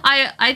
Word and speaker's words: AI: The AI in AI Somnium Files is pronounced I? What? The Somnium Files? It's not AI the Somnium Files? I've been calling it AI the Somnium Files this whole time.